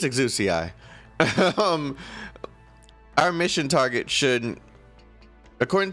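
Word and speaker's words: Exusiai: Exia is the Japanese pronunciation. Bruh, we're not in Japan. It's Exuci.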